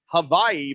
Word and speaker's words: Hawaii: wow big george says hawaii is pronounced hawaii by the locals as in huh you know huh oh